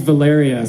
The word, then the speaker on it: Valeria: the harbor let's get Valerie a hand hilaria oh she said my name is valaria so I got the name wrong so I'm either gonna